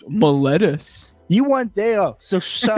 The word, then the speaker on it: Miletus: it's pronounced Miletus.